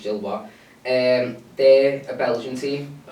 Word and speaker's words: Gilloise: for them because, like, Union Saint-Gilloise, or Gillois, however you pronounce it actually, I think it's Gillois, they're a Belgian team,